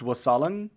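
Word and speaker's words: wassailing: tell, it's pronounced wassaling. Wasalin. Wasalung.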